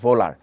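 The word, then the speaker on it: Wöhler: জনক ফ্রেডরিক কি হুইলার ওটা কিন্তু হুইলার না ওনার নামের উচ্চারণটা হচ্ছে ভোলার ইংলিশে যে কিছু কিছু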